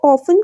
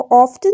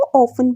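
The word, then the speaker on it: often: यहाँ पर ऑफन को गलत प्रोनाउंस नहीं करना, मतलब इसको ऑफ्टन नहीं पढ़ना, इसको ऑफन प्रोनाउंस करना है।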